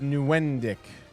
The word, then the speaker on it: Nieuwendyk: Joe Nieuwendyk. That's definitely how you At pronounce least it.